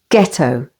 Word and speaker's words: ghetto: the second syllable exhale H is always silent after G for example ghastly ghost and ghetto with the stress on the first syllable ghetto this noun means a